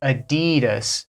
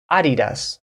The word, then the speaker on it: Adidas: that I'm wearing Adidas so in the USA we say Adidas Adidas this is an Adidas shirt but actually it comes from Germany where they say Adidas Adidas Adidas which is from a